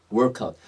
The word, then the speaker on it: workout: 발음하실 때 혀를 굴려야 돼요. workout. 만약에 이렇게 workout이라 그러면 이때는 혀를 빼야 돼요. walkout. 이건 뭐라고요? walkout. 근데 이제 요 빈칸 옆에 workout은 뭐라고요? 혀를 굴려서 workout.